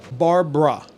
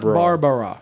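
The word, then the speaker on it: Barbra: Write out the name Barbara Streisand. Oh, man. B-A-R B-R-A is the correct spelling of her name. Barbara. Not Barbara.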